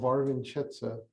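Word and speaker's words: Wawrzeńczyce: this village is called varvinchetza it doesn't look like that's how it would be pronounced with this that's pretty close i won't claim it's perfect um this person right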